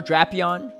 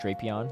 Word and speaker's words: Drapion: Shadow Drapion is unfortunately the correct pronunciation, not Drapion. It's officially pronounced Drapion per the Pokemon Company, which I hate too, but it is what it is.